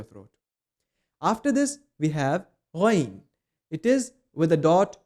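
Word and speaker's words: غ: When you pronounce it, make sure your air passageway is clear and it's not constricted. Let the air pass easily, just like the letter kha. And it is with a mild O sound.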